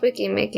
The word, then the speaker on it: Weki Meki: No, it's Wiki Mickey.